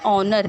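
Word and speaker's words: honour: ऑनर, देखिए ओ से हम स्टार्ट करते हैं, ऑनर, एच प्रोनाउंस नहीं हुआ। आर एच नहीं प्रोनाउंस हुआ।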